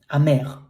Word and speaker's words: amer: It's bitter, amer. The final R is pronounced like r, amer.